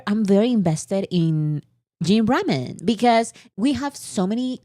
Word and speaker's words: ramen: Did you say Raymon? Is it not pronounced ramen? I say ramen. I say ramen.